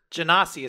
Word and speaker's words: Genasi: Genasi is how I've always pronounced it.